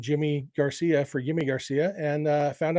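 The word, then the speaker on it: Yimi García: I found out that Yimi Garcia actually prefers to go by Jimmy Garcia, which makes sense if some Spanish-speaking countries, they do pronounce the Y sound like a J, como te llamas, a little bit.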